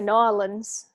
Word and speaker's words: New Orleans: about the food in New Orleans and what's the correct way to say it New Orleans or New Orleans um a local would tell you no lands so that unofficially yeah